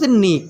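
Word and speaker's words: knee: तो घुटने की इंग्लिश नी, के साइलेंट होता है, नी मीन्स होता है घुटना।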